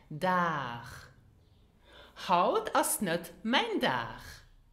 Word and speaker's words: Dag: Now, did you hear how I pronounced it? Dag. Now, many of my students pronounced it dag or dag, which is not correct. So the final letter G is not pronounced G, but it is more pronounced as in machen, so you have the soft sound.